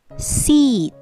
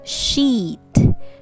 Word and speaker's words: seat: me flower good job seat seat right seat not sheet sheet is s-h-e-e-t sheet right but this is not sh sound it's seat a